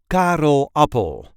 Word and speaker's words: Karel Appel: the way we say Carl Apple car there is a light emphasis on the first syllable of his last name car Apple car up Carl Apple Carl Apple was one